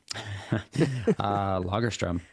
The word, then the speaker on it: Lagerström: Tell me about the etymology, if that's the right word, of your last name and how you would pronounce it in the mother tongue. Lagerström.